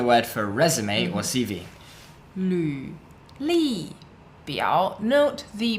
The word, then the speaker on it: 履历表: 履历表. Note the pronunciation of the character 履. It's a Okay, so it's an LV if you're typing on a keyboard.